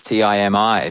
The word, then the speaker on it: Timi: Well, why are you pronouncing the word in a more difficult way than it needs to be pronounced? yeah, there isn't no E, no Y there at all. It's Timi.